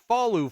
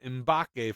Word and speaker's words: Mbake: so not Falu Fall, but Mbake Fall.